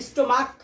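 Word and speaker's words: stomach: যেমন যদি বলি স্টোমাক, স্টোমাক পাকস্থলী, যেটা স্টোমাক লাস্টে ক উচ্চারণ হচ্ছে, সেক্ষেত্রে আমি স্টোমাসের সাথে এস যুক্ত করে দেবো, তাহলে সেটা প্লুরাল হয়ে যাবে।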